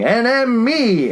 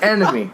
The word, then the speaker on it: N.M.E: like, And of course, no one pronounces enemy like they should. They're always like N.M.E, N.M.E. It's enemy. Yeah, It's like enemy, enemy at the gates, public enemy. You can say enemy.